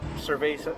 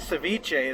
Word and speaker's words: ceviche: had way too much food yeah the uh Sur ciche Ceviche there we go I want to say Sur